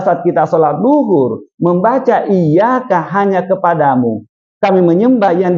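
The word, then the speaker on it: إِيَّاكَ: lebih-lebih pahamlah Hanya mengingatkan pelafalan iaka itu harus mempergunakan tasdid iyaka tidak boleh tidak ada tasdid iyaka kenapa Karena kalau iyaka itu mentari pagi kalau tanpa tasdid iyaka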